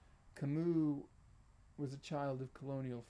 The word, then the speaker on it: Camus: was a pier noir in fact saying it right kamu was a child of